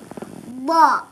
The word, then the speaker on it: ضاد: كيف ينطق حرف الضاد الضاد التي ليس فيها عصا تندق ضا ممتاز انظروا لا يخرج اللسان ايوه والظاء التي فيها